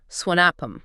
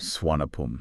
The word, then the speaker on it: Suvarnabhumi: But you're going to hear locals say Swanapum. Okay. Like they kind of drop that hard R sound. Swanapum.